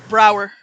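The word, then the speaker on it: Braugher: Is that how you pronounce it? Ba Bahar. Brower.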